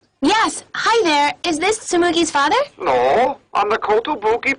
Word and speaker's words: Tsumugi: Weirdly enough, in episodes 8 and 10, Tsumugi, which is normally pronounced correctly, is pronounced Tumugi.